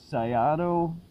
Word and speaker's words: Syato: was monkey-see monkey-do of sigh ah doh i pronounce it it's spelled sy 8000